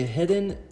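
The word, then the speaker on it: Heddon: This is a Head-In, or yeah, that's how you say it, Head-In baby torpedo.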